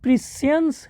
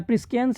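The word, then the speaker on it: Priscian: Broke प्रिसियंस head, ठीक है। Broke प्रिसियंस head या प्रिस्कियंस हेड होता होगा, सॉरी।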